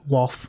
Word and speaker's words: Wath: So think Bath and Bath, but Wath. Or if you're from down south, you say Wath.